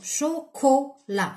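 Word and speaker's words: chocolat: شوكولا راكم تسمعوا كو كا، دونك شوكولا هذا نكتبوه هنا. وعلاه؟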